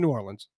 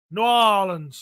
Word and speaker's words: New Orleans: Yeah, all of a sudden, Steve's in New Orleans. New Orleans. Oh, New Orleans. That's how they say it. In New Orleans. They don't really, they just kind of let it run together.